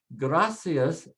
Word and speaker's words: gracias: Gracias ends with an S. So we put the stress next to the last and say gracias.